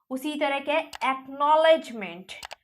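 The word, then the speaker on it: acknowledgement: नहीं कर रहे हैं एक्नॉलेजमेंट तो इसी में भी क्या सी हम लोग प्रोनाउंस नहीं कर रहे ऐसा और भी बहुत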